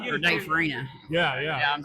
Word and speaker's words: Farina: And they're also starting up the anti-vax, the RFK anti-vax tour with Dave Farino. So if you get or a Dave chance- Farina.